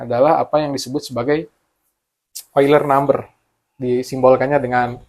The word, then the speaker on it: Euler: Swiss namanya leonhard oiler dibacanya oiler tapi ditulisnya euler eer I kita bilangannya bilangan euler ya Iya kita Iya karena bau bahasa Inggris oiler bahkan orang Inggris pun kadang-kadang yang enggak tahu baca ini eer I tapi kalau udah tahu dia baca ini oiler karena ini ejaan Yas